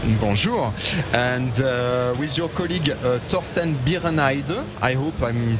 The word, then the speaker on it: Torsten Birenheide: And with your colleague Torsten Birenheide, I hope I'm pronouncing correctly.